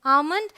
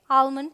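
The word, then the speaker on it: almond: यहां L silent है यह है आमंड लेकिन अमेरिकन इंग्लिश में इसे आमन पढ़ा जाता है तो कई बार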